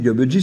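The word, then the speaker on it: gabegie: Moi, j'ai toujours dit Gabji, c'est Gabji. Et les dictionnaires vous le disent, la gabji, hein, c'est le grand désordre, il faut prononcer bji.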